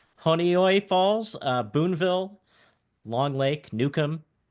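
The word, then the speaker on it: Honeoye Falls: Pittsburgh Queens Northampton the place I can never pronounce so what is it honoy falls honoy falls uh Boonville Long Lake Nukem New York City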